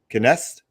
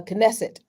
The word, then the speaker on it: Knesset: saying it right the the um Kenneth uh knesset yeah can I say it again knesset knesset okay Israeli Parliament yes